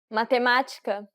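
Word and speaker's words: matemática: stress in this example accents are good indications of stress since this has the acute accent it indicates that the syllable should be stressed and that it requires an open pronunciation mathematica how did it go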